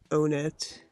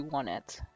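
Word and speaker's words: Onett: So now we're gonna be heading to Onet. Is that how you pronounce it? Onet? For the longest time I pronounced it that way, but I'm pretty sure it's supposed to be one it.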